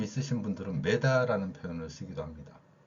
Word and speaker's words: 미터: 그럼 미터와 메다는 서로 다른 말이냐? 그렇지 않습니다. 이 미터라는 표현에서 가장 핵심적인 글자가 어예요. 우리는 어 발음할 수 있죠. 자, 미음은 뭐 비슷하니까 빼고요. 그 다음에 메다로 읽었다는 거는 이 발음이 아니라 글자 이를, 미터의 이를 에로 읽은 겁니다. 이게 이제 일제강점기부터 영향을 끼친 건데요.